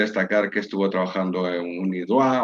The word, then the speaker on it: UniDroit: Me es importante destacar que estuvo trabajando en UniDroit o UniDroit, como se pronunciaría en español, una entidad a la que seguramente muchos de los que estáis escuchando conoceréis.